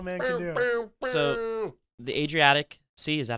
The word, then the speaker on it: Adriatic: So, the Adriatic Sea, is that how you pronounce it?